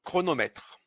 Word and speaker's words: chronomètre: Attention à CHR, c'est le son creux. Avec un a, c'est cra. Avec un e, c'est creux. Avec un e accent aigu, c'est cré comme chrétien. Cri cro. Cro comme chronomètre.